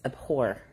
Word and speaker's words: abhor: Is it A-B-H? Yes. It's abhor. It's a silent H.